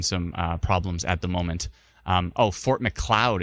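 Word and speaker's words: Fort Macleod: Fort McLeod is how it's pronounced. I like that. Fort McLeod.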